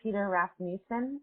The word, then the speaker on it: Peter Rasmussen: But tell me about Peter Rasmussen.